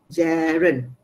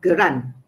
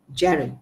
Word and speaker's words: gerund: number one gerund okay so this is how you pronounce okay jaren jarren not gran not garanna jaron this is how you pronounce it okay so what's gerund